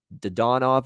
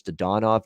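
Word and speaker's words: Dadonov: de donov as well i think he's changed his pronunciation from what i've heard in the preseason one of those guys that's changed his pronunciation but i think it's to donov now uh for uh the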